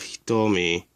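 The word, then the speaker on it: 瞳: The first one is the same symbol you saw earlier, but this time it'll be pronounced do instead of hitomi.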